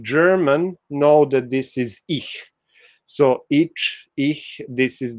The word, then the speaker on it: ic: It was it was spelled like this, but it was pronounced as ich. Those of you who speak German know that this is ich.